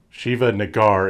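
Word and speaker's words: Shiva Negar: not saying this word this is how you pronounce her name shiva Naggar is the Iranian agent who of course is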